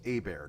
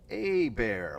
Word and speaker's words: Hebert: my name I am a bear like the E the H is silent the E is like an a a bear that's how you say